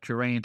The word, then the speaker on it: Geraint: The two idylls about Geraint and Enid, is how it's pronounced, reference Geraint.